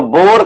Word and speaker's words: Bohr: तो बोर का, उसको शॉर्ट में बोला जाता है, उसका प्रोनाउंसिएशन बोर ही होता है, बोर का परमाणु मॉडल।